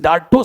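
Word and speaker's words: dartos: एक एक मसल होता है उसको बोलते हैं डाटो मसल्स क्या बोलते हैं उसको डाटो मसल्स इस डाटो spelling D ए आर टी ओ एस डाटो muscles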